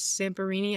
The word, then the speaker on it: Zamperini: Louis Zamperini, I think is how you say it.